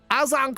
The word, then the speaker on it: Agincourt: at the Battle of Agincourt. It's uh actually pronounced Azincourt, Battle of Agincourt.